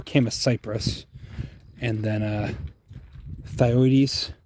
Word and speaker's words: Chamaecyparis: It does not that it matters how you pronounce it, but Chamaecyparis. I prefer Chamaecyparis.